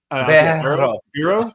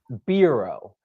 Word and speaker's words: Bero: I roll the R. Bero. Bero. You were calling Bero. So, exactly. Yeah. That's how I do it. I think the name of the brand is Bero.